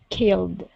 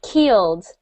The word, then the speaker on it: killed: Short one is this. Yeah. Well, Killed. yeah. So we've got that I sound. Excellent. When you were reading, we heard keeled.